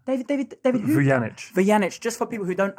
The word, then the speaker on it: Vujanic: it what's your name david david david janice vyanich just for people who don't actually understand how to pronounce it but hello huge how are you